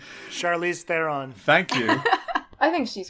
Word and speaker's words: Charlize Theron: oh my god I can't say her name Charlize Theron thank you I think she's great yeah she's